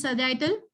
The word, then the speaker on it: sagittal: Sagittal. Very good. So how do you say it is sagittal?